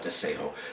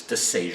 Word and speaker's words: Desejo: Now, it's also, people pronounce it often as the Spanish, where they call it Desejo. The actual pronunciation is Desejo. Because in Portugal they pronounce it J. J is really soft.